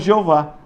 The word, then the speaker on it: Jeová: Pegaram as vogais de Adonai, que eles sabiam a pronúncia, e enxertaram no tetagrama. Daí surgiu a pronúncia Jeová, que na nossa língua nós falamos Jeová.